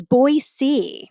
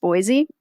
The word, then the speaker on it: Boise: be here and it is boyc by the way boyc thank you for the correction boyc yes if you live in boyy that's one of the first things that you learn it is not pronounced Boise I don't know why